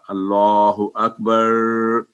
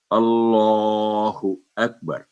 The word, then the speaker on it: اللہ اکبر: ملائیں گے ساکن ہوگا، لیکن یہ کاف اکبر، بعض دفعہ اللہ اکبر تو یہ بھی غلط ہے، تو صحیح تلفظ ہوگا اللہ اکبر۔ کھڑی زبر جو ہے وہ 2 سیکنڈ بعد لمبی کریں گے۔ آگے چلتے ہیں۔ یہ